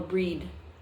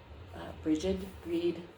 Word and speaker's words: Brigid: Oh, I should say this is the Brigid, or Breed, Breed, however you want to pronounce her name, the Celtic goddess.